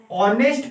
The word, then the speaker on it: honest: उस पर हम लोग ध्यान नहीं देते, इसके उच्चारण पर ध्यान देते हैं। ऑनेस्ट पढ़ा रहा है, क्या पढ़ा रहा है, ऑनेस्ट।